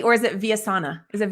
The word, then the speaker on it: Villasana: Or is it Villasana? Is it Villasana or Villasana. Villasana? Oh, I'm so sorry, Richard. Okay, Villasana, dang it. Okay, so Richard Villasana. Richard is spelled just how it sounds, and then Villasana.